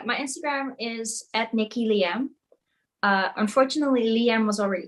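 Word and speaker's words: Liem: on the interwebs uh liam is basically my last name but written down phonetically when pronounced in english so my last name is lin which is spelled l-i-e-m how many languages you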